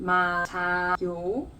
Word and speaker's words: 맞아요: This one goes up to the next syllable.